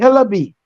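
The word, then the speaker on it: Hillaby: all right make sure you make sure you're pronounce it right hello B it'll be always it's i-l-l-i-b-y h-i-l-l-a-b-y look at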